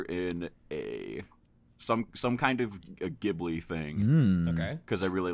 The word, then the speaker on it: Ghibli: You don't need to fucking live there to see that the way so- they pronounce it is Ghibli with a soft G.